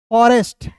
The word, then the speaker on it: forest: अब कैसे पढ़ेंगे इसे बिल्कुल ध्यान से देखिएगा दोस्तों। एफ का दोस्तों फ होता है ना, ओ है तो इसका उच्चारण अ के रूप में, आर है तो र लिखिए, EST है तो इसका उच्चारण एस्ट के रूप में करते हैं, फॉरेस्ट।